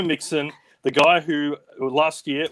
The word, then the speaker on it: Mixon: name is joe and his last name rhymes with president president nixon it's joe mixon the guy who last